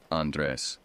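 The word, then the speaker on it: Andrés: All week, she had been pronouncing it with the Spanish pronunciation, Andres, the way my family had always said it.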